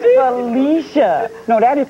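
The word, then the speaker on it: Phylicia: Felatio Rashad. No, it's Felicia. No, that is pronounced F-Y-L-L-I-C-I-A, Felicia.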